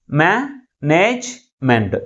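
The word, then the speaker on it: management: దీంట్లో ఎన్ని సిలబస్ ఉన్నాయి మేనేజ్మెంట్ త్రీ సిలబస్ ఉన్నాయి అయితే ఈ త్రీ సిలబస్ లో ఏ సిలబల్ ఎక్కువ ఫోర్స్ గా పలుకుతుంది ఫస్ట్ సిలబుల్ మిగిలిన సిలబస్ కంటే ఎక్కువ ఫోర్స్ గా పలుకుతుంది దీన్ని ఎలా పలుకుతాం మనము మేనేజ్మెంట్ ఓకే అంటే ఇక్కడ స్ట్రెస్ ఎక్కడైతే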